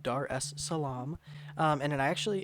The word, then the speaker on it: Dar es Salaam: before I embarrassed myself it is kind of pronounced just as it's spelled Dar es Salaam um and I actually